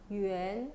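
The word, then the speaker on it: 圆: 어쨌든 발음 똑같아요. 성조도 똑같네요. 그렇죠? 유엔.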